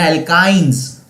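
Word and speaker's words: alkynes: और मैंने आपको स्पेसिफिकली इसके प्रोनाउंसिएशन थोड़ा सा अलग करके बताया था ताकि आप इसको अच्छी तरह से याद रख सको। एल्केन्स, एल्कीन्स एंड एल्काइंस, okay, ताकि आप उसको थोड़ा सा अलग से याद रख सको।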